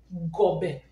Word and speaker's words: gobe: This one is O B, and this one is E, and the pronunciation is O Gobe Gobe. So pronounce Gobe.